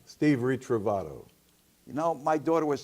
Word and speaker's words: Ritrovato: and then go ahead what's your name Steve retreive Otto you know my daughter was saying to get us in syllables REE trove Torito fat oh yeah okay and what you are